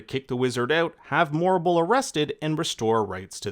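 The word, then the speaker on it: Morrible: The real villain in Wicked has to be Madame Morble. No wonder her name rhymes with horrible.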